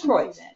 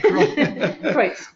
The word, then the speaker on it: Kreutz: But it is Kreutz. Yeah. So think of, oi, my gosh. Oi, Kreutz.